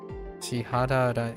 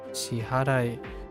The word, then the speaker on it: 支払い: Shihararai. Oh, wait. 支払い Shiharai. I'm adding an extra syllable in there unintentionally.